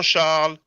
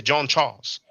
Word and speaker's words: Charles: his full name Jean Char Ki Gomez see in English you pronounce the S you say John Charles but in French we don't actually pronounce the S just like Paris we